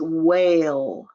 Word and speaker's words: whale: 13 is whale, whale, WHALE, whale. And if you notice, the E is silent. It makes the A say its name, whale.